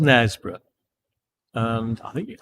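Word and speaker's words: Knaresborough: if you want to check out nesboro it's spelt with a k by the way k n a r e s b o r o u g h online um that's where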